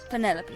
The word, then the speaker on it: Penelope: pain officially yes but i never can be bothered with all four syllables of it penelope sounds a little um